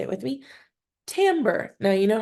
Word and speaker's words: timbre: say it with me tamber now you know how to say that um word correctly the reason why it's tamber and not Timber is because it's a French word and in French the